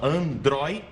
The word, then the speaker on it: androide: D como última sílaba então é uma palavra paroxítona ou seja uma palavra em que a penúltima sílaba é a sílaba forte é a tônica certo então Androide perfeito Então esse acento